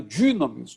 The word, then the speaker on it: dynamis: Porque não é nem U nem I. No grego é um termo, é uma letra, né? Ou melhor, um fonema, vamos dizer assim, que é de difícil pronunciação, porque é como se fosse aquele U do francês, que é com bico, né? Dynamis, dynamis.